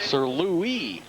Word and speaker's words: Sir Louis: Sir Louis, I am told it's pronounced. The S, it is not Lewis.